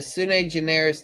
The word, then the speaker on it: sui generis: Sui generis.